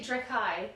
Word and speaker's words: Dreki: Well, it's actually Drekai for one.